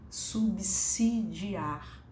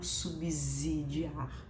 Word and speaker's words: subsidiar: subsidiar os argumentos né subsidiar com som de s e não subsidiar com som de z Já que é um